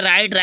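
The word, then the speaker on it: write: Next है राइट लिखना होता है, डब्लू साइलेंट हो गया।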